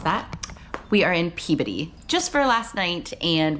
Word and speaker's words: Peabody: We are in Peabody, not to be confused with Peabody, we've been told that is not how you pronounce that. We are in Peabody just for last night, and we check into